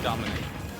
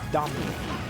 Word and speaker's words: Domnique: Or have you been saying it, Dominique? No, there's no I in between the M and the N. It's Domnique. Domnique.